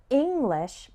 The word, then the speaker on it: English: strong syllable for example the word english has the stress on the first syllable and the word improve